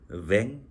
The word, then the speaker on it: vin: 독일어로 와인이고 프랑스어로는 vin이지만 뱅 그럽니다.